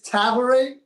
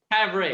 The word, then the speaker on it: Tavare: It's actually it's Tavare, Tavare. but it's Jay Tavare.